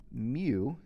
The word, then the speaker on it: mu: on this remember that mu is a greek letter it's pronounced mu kind of like the pokemon and it is the